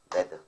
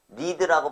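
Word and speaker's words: read: 얘네들은 발음도 다 똑같은데 얘는 발음이 조금 달라요 레드라고 말하면 됩니다 레드 과거일 때는 니드라고 발음하지 않고 레드라고 발음해요 알겠습니까 그럼요 문장 마지막에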